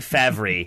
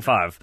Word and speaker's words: Favre: That's the Ben Stiller something about Mary pronunciation. I think it's like Favre is what Ben Stiller goes with. Lucien Favre is looking to bring